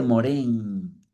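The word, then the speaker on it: Morin: Es la mirada piayetiana de la realidad, la mirada moriana de Edgar Morán, que se escribe morín, pero se dice morén.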